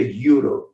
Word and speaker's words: euro: A pronúncia da palavra euro em inglês é euro. Euro. O mesmo fonema de yet, year e you.